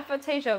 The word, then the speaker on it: aphantasia: Yeah, yeah, Aphantasia.